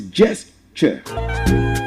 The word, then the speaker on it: gesture: It's pronounced like you want to pronounce church. Like you want to pronounce church. It's pronounced church. So it's gesture.